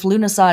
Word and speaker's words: Lughnasadh: declaring that we have entered lunasad season or lunasa or llamas or other ways of pronouncing that word or other names for